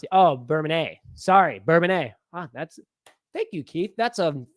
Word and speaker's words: Bourbonnais: Bourbonnais is like Illinois don't pronounce it. Oh, Bourbonnais. Sorry, Bourbonnais.